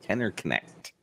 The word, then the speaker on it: Kenner Connect: He says you pronounce the K. Kenner Connect.